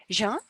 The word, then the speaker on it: Jean-Baptiste: Tu peux m'aider à prononcer ton nom? Jean, c'est correct? C'est exact, c'est bon.